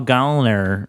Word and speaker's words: Gallner: He did clarify on Twitter that his name is pronounced Gallner. Really? Yeah. Like gallstones? Like gallstones. He says, someone asked how do you pronounce his last name, and he said Gallner like a lady, a gal like a lady. Interesting. And he said not Gallner, Goll.